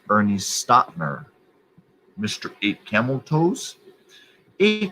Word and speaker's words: Ernie Stautner: eight camel chosen now um sir it is ernie stottner it's pronounced ernie stottner mr eight camel toes a camel toes man